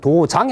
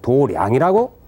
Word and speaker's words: 도량: 이때는 도장이 아니고 도량이라고 읽어줘야 됩니다.